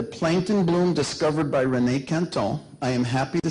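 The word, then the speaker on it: Quinton: was called Plasma de Canton. Okay? Some of you say Kingtone, but the real French pronunciation is Canton.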